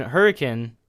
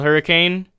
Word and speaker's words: Hurricane: So there's a town here called Hurricane, spelled Hurricane, and the pronunciation is Hurricane, I guess.